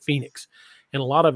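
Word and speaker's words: Phenix: of phoenix missouri and it's not spelled like phoenix it's like at p-h-e-n-i-x or something like that but they pronounced it phoenix and a lot of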